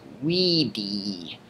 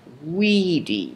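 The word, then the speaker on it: vīdī: So this used to be short I in the present, but now in the perfect it becomes a long I. So wideo becomes weedy.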